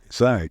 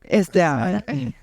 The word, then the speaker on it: ESAIC: Tell us how to pronounce it. ESAIC. ESAIC.